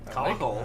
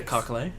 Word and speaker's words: Cockle: It's spelled cock with an L-E at the end, so there's only one way to pronounce that. Number 6. Yeah, Cockle.